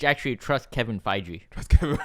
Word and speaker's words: Feige: it Feige or Feige? I don't know. Feige. F-E-I-G-E. I'm willing to bet it's Feige Yeah.